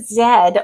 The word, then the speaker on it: zed: Americans say z. British, Canadians, and Australians say zed. I'm Canadian, therefore I sound American. I have an American accent, but I do say zed.